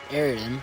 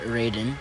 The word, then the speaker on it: Eraden: Ariden or Erden if you want to pronounce it that way is the kingdom where almost all events of the game take place.